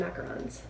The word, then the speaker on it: macaron: it smells like almond macarons or macaroons however you pronounce them I think that macaroon is the pronunciation for the coconut ones and macaron is the French ones with the almond flour on the kuruma middle